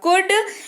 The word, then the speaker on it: could: COULD, L रहेगा silent और इसी के साथ इसका उच्चारण होगा कुड।